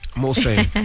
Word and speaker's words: Mulsanne: How you pronounce that car, Envy? Mulsanne.